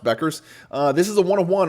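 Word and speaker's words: Bueckers: I think it's pronounced Beckers.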